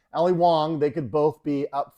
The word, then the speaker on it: Wong: Ali Wong. Sorry, not Ali Young. Ali Wong.